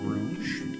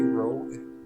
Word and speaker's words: Rouge: As I was saying, if you guys would prefer me to pronounce it Rouge, as that is technically how it is spelled, and I will oblige to that. When I made the game, I meant it to be Rogue. That's what I thought it was.